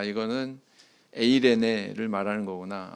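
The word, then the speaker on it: εἰρήνη: 오늘 성경 말씀에 화평이 하는 단어는 헬라어로 보면 에이레네 이렇게 이야기하고 또 히브리어로는 샬롬 이렇게 발음을 합니다 귀에 익숙하시죠 네 개혁 한글판 성경에서는이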